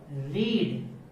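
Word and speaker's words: read: नाउ देखिए इसकी spelling जो है वो तीनों ही सेम है, but there pronunciation in the past form is totally different, है ना। पास्ट और पास्ट पार्टिसिपल फॉर्म के अंदर इसका प्रोनाउंसिएशन है वो डिफरेंट होता है।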